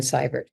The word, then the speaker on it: Seivert: This movement, so they can get hold of me on LinkedIn, Seivert. That again, spelled EI, but pronounced I.